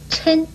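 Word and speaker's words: 抻: 但是这个舔字呢又可以念嗔，国语注音是施恩嗔一声嗔，嗔是拉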